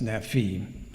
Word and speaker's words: Nephi: means handsome or beautiful, and came in the late Egyptian period to be pronounced as Nefi. Nefer, Nufer became Nefer, Nefi or Nufi.